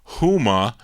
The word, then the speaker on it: Houma: How do you pronounce Houma, Daryl? Houma.